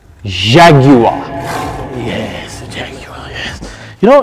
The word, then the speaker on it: Jaguar: you know what first you have to say it properly say it's it jaguar jaguar no don't say it like a frenchman nobody cheesy doesn't say properly jaguar jaguar yes you know it's